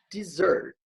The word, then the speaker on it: dessert: E a segunda aqui com dois S, a sílaba tônica já é aqui, ó. É a segunda, né? Não a primeira. Então eu vou pronunciar dessert. Desert e aqui dessert. Desert, dessert.